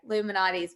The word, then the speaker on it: Lou Malnati's: Lou Malnati's pizza.